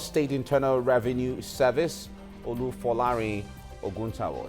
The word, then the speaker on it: Ogunsanwo: of the Lagos State Internal Revenue Service, Olufolarin Ogunsanwo. It's good to have you in the studio right now. Good morning. You're welcome. Did I pronounce the name? Ogunsanwo, I guess.